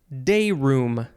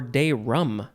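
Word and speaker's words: dayroom: the next word is day room day room or day rum i guess some people say day rum but it is spelled like room r-o-o-m this is all one word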